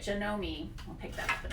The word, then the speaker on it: Janome: was the user so this is the janome that's how they say it janome i'll pick that up